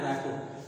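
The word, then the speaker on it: rapport: है र म होता आर ए डबल प ओ आर टी इसको बोलते है रको रको बनाना पड़ता है इसका इसका उच्चारण है रप यू हैव टू मेक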